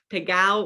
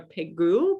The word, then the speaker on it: Pégau: And then Pégau or Pégou. Pégau is kind of the Provençal pronunciation. Pégou is more of a French pronunciation of the estate, but I hear both. I hear Pégau more commonly within the US, just like Guigal, or